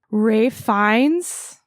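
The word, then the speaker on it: Ralph Fiennes: Like the acting performances, like I said, from Ray Fines, did I say it right?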